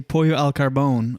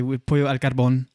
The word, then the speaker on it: pollo al carbón: It's pronounced like we as Canadians would say pollo al carbone on this thing, but I would say pollo al carbón.